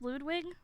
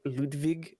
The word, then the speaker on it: Ludwig: like that Ludwig man is it pronounced Ludwig well technically his name is Ludwig but uh he changed it to just Ludwig whenever he moved to America because um he got